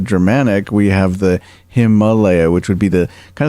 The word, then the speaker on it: Himalaya: If you read Sanskrit, it's Himalaya. They have a long A vowel and a short A vowel. So in Sanskrit, it would be Himalaya, but because English is so influenced by the Germanic, we have the